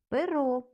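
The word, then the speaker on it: però: Наступне слово перо. Наголос на останній звук перо означає але.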